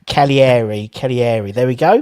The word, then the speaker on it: Cagliari: It's pronounced Cagliari. There we go. But it's got a G in it.